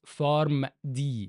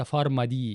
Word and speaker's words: فارم دي: يعني المسمى الجديد اصبح بكالوريوس فارم دي وليس فارما دي يعني في ناس كتير بتنطقها فارما دي هي هي بالظبط شهاده